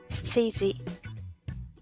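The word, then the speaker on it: 七時: Si recuerdan, 7 tiene 2, que serían nana y shi. Para las horas utilizamos su segunda pronunciación. Entonces, para las 7 diríamos shiji.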